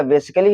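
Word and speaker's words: basically: और मैंने बताया अगर डबल एल वाई से पहले ए आता है तो क्या होता है? ए साइलेंट होता है। देखो क्या हो जाएगा? बेसिकली हो जाएगा।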